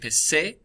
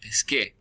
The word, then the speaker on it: pesqué: If you were to drop the AR and put an E on, that C would become a soft C and would sound like an S. So in order to avoid sounding like pesé, the QU has to show up to keep that hard k sound, pesqué.